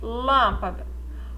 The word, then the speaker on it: lâmpada: Qual que é a sílaba tônica? Lã, né? Então, lâmpada. Ela é a última, a penúltima, ela é a antepenúltima. Então, ela é proparoxítona.